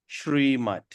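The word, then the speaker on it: Śrīmat: When we have a S apostrophe, we're going to pronounce it Shrimat.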